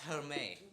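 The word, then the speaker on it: Hermès: The bag is pronounced Hermes.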